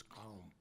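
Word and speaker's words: qaum: in the late 1860s the word was calm spell it q-a-u-m if you like palm uh came to mean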